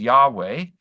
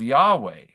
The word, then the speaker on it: Yahweh: by the name that probably the best guest in terms of pronouncing it is Yahweh as uh as as the